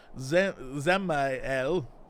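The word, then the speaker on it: Dzemael: Short while ago, one of the workers from house uh Zel Mhm. Uh the D is silent. Asked me to go and deal with some Miloans and have been causing trouble.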